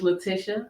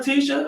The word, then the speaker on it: Laticia: It is Laticia. It rhymes with Patricia. There you go, Laticia. People all the time are like, "What up, Tisha?"